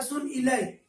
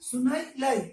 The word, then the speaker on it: सुनाइले: इसको पढ़िएगा अच्छे से, बहुत लोग पढ़ता है सुन इलय, इलय नहीं होता है, सुनाई एक साथ पढ़िएगा, सुनने में अच्छा लगेगा, प्रोनाउंसिएशन में थोड़ा ध्यान दीजिएगा। वो गीत सुन सुनाई लय, सुनाई लय, ठीक है,